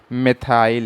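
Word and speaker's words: methyl: बेटा सही प्रोनाउंसिएशन यही है, मेथाइल एल्कोहल की, लेकिन जब हम हिंदी मीडियम के बुक्स में आते हैं तो वहाँ पे इसी में तक वो मेथिल लिखा होता है, तो हमारी जो ज़ुबान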